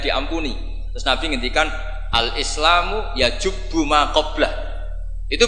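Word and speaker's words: يجب: Terus Nabi ngendikan al-Islamu yajubu ma qablah. Itu bacanya bukan yajibu tapi apa?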